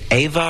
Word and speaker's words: Eva: Is it Ava or Eva? Eva Cassidy.